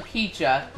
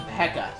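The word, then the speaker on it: Pecha Berry: Not sure why Sugar calls them Peacha. I believe in the anime, they actually pronounce them Pekka, so that's how I'm gonna pronounce them, so, yeah.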